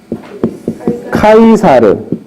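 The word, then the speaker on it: Caesar: 율리우스 카이사르. 라틴어식 발음입니다. 영어식은 시저라고 이거 있습니다.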